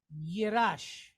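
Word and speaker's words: ירש: So we know that if that mark is on the right-hand side, it's going to sound like SH. If it's on the left-hand side, it's going to sound like an S. So we have rush, rush. So we have yirash, okay?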